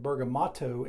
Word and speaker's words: bergamotto: is mostly grown in italy and they actually spell it bergamotto m-o-t-t-o at the end so in english it's